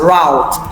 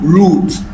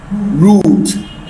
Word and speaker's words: route: Many persons mispronounce this word as route. It is not route but root.